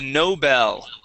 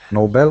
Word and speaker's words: Nobel: here is uh the Nobel okay the Nobel Prize instead of Nobel Nobel Nobel the Nobel Prize okay Nobel no electricity Bell there you go Noel Nobel or Noel Noel Nobel